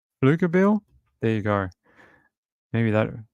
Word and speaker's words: Pflugerville: Okay, so he's saying Pflugerville. Pflugerville?